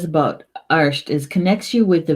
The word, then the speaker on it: Art: Bear, arsht. It's spelled A-R-T, but it's pronounced arsht in Gaelic, bear.